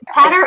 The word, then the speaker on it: Peadar: last name Megan is our pretty official pronunciation patter okay lean patter Oh galine yeah they're talking about